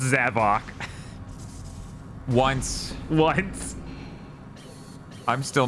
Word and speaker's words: Zavok: Him and Zavic are the best characters." Oh, that's true. You're right. His name is pronounced Zavok.